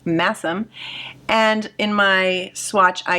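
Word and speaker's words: Masham: It's spelled mashim, but it's pronounced massim.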